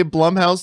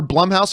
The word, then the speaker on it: Blumhouse: has just bloom house bloom house however people like to pronounce it I say it both ways all the time one day I'll say bloom house the next day I'll say blue house I'm pretty sure it's bloom house actually or our Blum house I'm pretty sure it's Blum house cuz it's Jason Blum